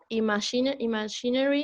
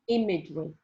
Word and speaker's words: imagery: This is an imaginary is a correct pronunciation. Imagery.